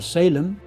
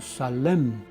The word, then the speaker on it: Salem: Esta ciudad, que en inglés se pronuncia Sailem, es la que en español conocemos como Salem, nombre que se tomó